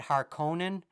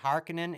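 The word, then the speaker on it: Harkonnen: who played fade harinen I've always said har Conan but according to these movies it they say hekinan and I kind of actually have sort of adjusted my own um pronunciation because I kind of like the Denny villanu pronunciation of hekinan um but yeah did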